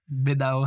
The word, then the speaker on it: Minogue: She was Minnow, as in like that's technically the correct way to pronounce it, but that's not the way anyone in the world has pronounced it over the last 30 years.